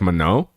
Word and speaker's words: Manon: People are saying the last N is silent. So it's like mano I guess.